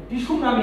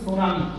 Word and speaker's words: tsunami: সুনামি বানানটা দেখো TSUNAMI, একইভাবে কলেরার বানানটাও কিন্তু এরকম, টিসুনামি না কিন্তু, এটা কিন্তু সুনামি বানানটা এরকম।